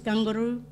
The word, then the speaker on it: kangaroo: Kangaroo is Gungaroo.